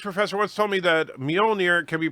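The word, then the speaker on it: Mjölnir: And Darren says, a Nordic language professor once told me that Mjolnir can be pronounced Mjolnir as well, since the J was often silent.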